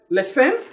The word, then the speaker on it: listen: Listen. Can you say it again? Listen. Good. Not listen. No T in lesson.